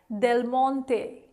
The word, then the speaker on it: Del Monte: Well, if you did, you should also know that it is pronounced as Del Monte, Del Monte, Del Monte. That is the correct Italian pronunciation, but usually again in English we end up pronouncing it as Del Monte, Del Monte.